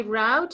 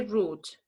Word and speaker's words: route: Yeah, but you Yes, in the United States you say route. In England you say route.